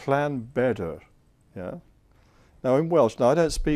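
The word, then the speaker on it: Bedwyr: The W is pronounced more like a double O, and the Y is an E sound. Yeah, it's a Bedr.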